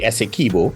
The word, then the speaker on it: Essequibo: The Essequibo, thank you very much for correcting my pronunciation. Yeah, well, yeah, remember, I just put the emphasis on the right syllables, you know.